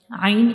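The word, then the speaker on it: ع: Ain is a throat letter.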